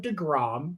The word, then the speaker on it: deGrom: big deal one day his name's Jacob degrom you might have heard of him um it's pronounced to groom I believe but yes I